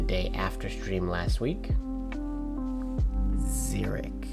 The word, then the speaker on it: Zurich: Zeric. Oh, it's pronounced Zurich.